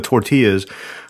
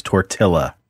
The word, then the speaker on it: tortilla: The most offensive thing you've ever mispronounced on this show is tortilla. Tortilla?